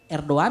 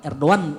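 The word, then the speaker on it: Erdoğan: Erdogan kan? Erdogan bukan Erdogan, Erdogan dibacanya.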